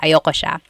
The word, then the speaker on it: ayoko: Usually it's pronounced ayoko siya. So if you want to sound a little bit more natural, you put everything together, ayoko siya. Ayaw ko siya is ayoko siya.